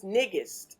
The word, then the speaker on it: Nnegest: And the actual real pronunciation of my first name is Nnegest. It means queen in Amharic, which is Ethiopian language.